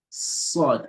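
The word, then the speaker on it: ص: So there's a less heaviness in pronouncing sin compared to sod.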